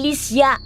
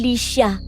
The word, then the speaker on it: Lycia: At itama mo ang pagbigkas ng pangalan ko. Hindi Lycia, kundi Lycia.